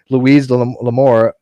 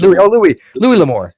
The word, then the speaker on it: Louis L'Amour: Then this clown mentioned Louise L'Amour. How do you pronounce the guy's name? L'Amour, not Louise. Louis L'Amour.